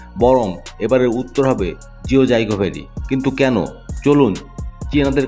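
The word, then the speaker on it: 九寨沟: মায়াময় উপত্যকা থাকতে পারে পুরো পৃথিবীর কাছে এই উপত্যকা জিও জাইগো ভ্যালি নামে পরিচিতি পেলেও প্রকৃত চীনা উচ্চারণে এর নাম জিও চাইকো ভ্যালি ভ্যালি রথগুলো সমুদ্রপৃষ্ঠ থেকে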